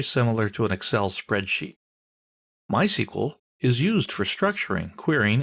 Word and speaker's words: MySQL: so what is MySQL well it's a version of SQL we'll talk about that in a minute people in the know don't say MySQL they say my SQL that's generally how it's